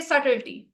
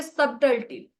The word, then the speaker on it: subtlety: Okay, let's say this is the word, if say subtlety, and we try to say subtlety, something like that, right? We try to pronounce this B here. Then the pronunciation is wrong because this B is silent here.